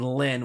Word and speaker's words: Rin: By the way, I pronounce her name as Rin with an R, despite her being Chinese, so it should have been Lin with an L, but